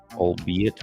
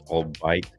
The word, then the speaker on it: albeit: As someone who has only seen it written, it's pronounced albeit. Wait, what? All of that, I swear. What? All of that, and I swear, if I hear him pronounce albite like it's albite one more time, I'm